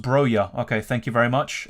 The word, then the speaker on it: Broja: It's pronounced Broja.